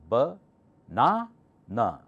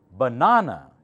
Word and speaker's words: banana: first lesson this one ba na na banana in British English American English is banana but nad the middle now is louder it's got the primary accent if you say banana